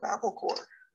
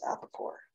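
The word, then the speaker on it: Apacore: And okay, here it is, Apicore, and it is spelled A-P-A-C-O-R-E, which makes me think of Apicore. That's Apicore.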